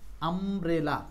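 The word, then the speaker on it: umbrella: ইউ এর উচ্চারণটা আর ইউ নাই ইউ এর উচ্চারণ হয়ে গেছে আব্রেলা মানে এখানে ইউ সমান সমান হচ্ছে আ তাহলে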